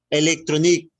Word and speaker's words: électronique: Électronique. Adresse électronique. Que suene la K.